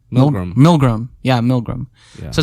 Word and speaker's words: Milgram: I think it's called the milligram experiment or the milligram.